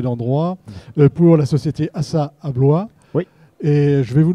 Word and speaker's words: Abloy: concurrent finlandais qui s'appelle Abloy. Et tous deux, en 1994, ont décidé de s'unir et puis d'aller à la conquête du monde, tout simplement. Voilà, moi je l'ai prononcé à la française.